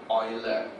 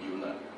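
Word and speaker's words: Euler: has got to that was a guy called Oiler but spelled as e l e r I used to pronounce it UL I found out in spotland who is one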